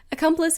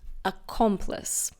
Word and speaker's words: accomplice: Accomplice is a countable noun. Now, be careful of the pronunciation. It's not accomplice. It's accomplice.